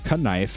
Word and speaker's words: knife: While spoken pronunciation uh changed and the K became silent by the 17th century, written spelling was largely preserved to show the world Germanic roots and origins.